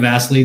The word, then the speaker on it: Vassily: joining me today uh my name is vasely don't worry about getting it wrong rent that's